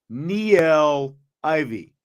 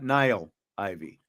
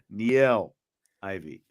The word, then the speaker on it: Niele Ivey: He is speaking of Niele Ivey, not Niele Ivey. Niele Ivey.